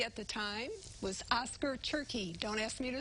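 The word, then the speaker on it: Tschirky: The maitre d' at the time was Oscar Turkey. Don't ask me to spell his name, but Okay. that's how you pronounce it.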